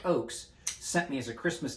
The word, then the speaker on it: Ochs: osprey edx uh the eric ox eric oaks i've mispronounced his name so many times eric oakes sent me as a